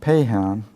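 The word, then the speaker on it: Paixhans: named it's spelling FAI X Haan which is pronounced pay Han I understand I'm not a linguist in French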